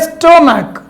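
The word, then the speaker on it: stomach: एक वर्ड है आपको बेंच और एक वर्ड है स्टोमक। इसके अंत में भी CH है, लेकिन इसका उच्चारण में यह CH क पढ़ा जा रहा है और बेंच में यह CH का उच्चारण च पढ़ा जा रहा है।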